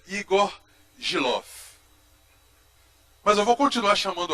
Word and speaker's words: Igor Gielow: Bom, nós o lemos na Folha de São Paulo, quase que cotidianamente, e aprendemos a pronunciar o nome dele como Igor Gelou. Mas ele me ensinou que é Igor Gilov.